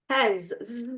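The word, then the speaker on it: has: হবে কি হবে হ্যাজ জ উচ্চারণ করেন আমার সাথে সাথে জ হ্যাস হ্যা ইয়া এই জ স্নেক সাউন্ড ওকে গেল আমার সাউন্ড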